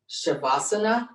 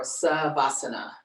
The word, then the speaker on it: Shavasana: The Sanskrit word for this part of yoga class is called Shavasana or Savasana. So it has two types of pronunciations and also a couple of different definitions.